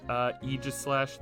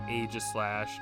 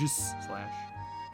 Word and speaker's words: Aegislash: I mean, Greninja and Aegislash, that's how you pronounce it. Not Aegislash, not whatever else anyone says. It's Aegislash.